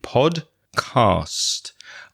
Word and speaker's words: podcast: There's one small correction I would like to make about the pronunciation of podcast. And many people who send us audio messages also make small mistakes with this word. Listen carefully. It's pod, P-O-D, podcast.